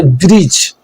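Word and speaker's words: bridge: कब होता है, जी से पहले आने वाला डी साइलेंट होता है, जैसे ब्रिज, जज, एज।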